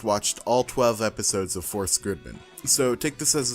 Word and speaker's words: SSSS.Gridman: this one right here, is pronounced Force-Gridman. Force-Gridman. So that's how I'm going to be pronouncing it for the rest of the video.